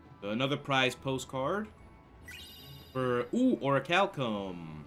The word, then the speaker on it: orichalcum: Orichalcum. Orichalcum. I'm sorry, what was that? I couldn't hear you. Orichalcum.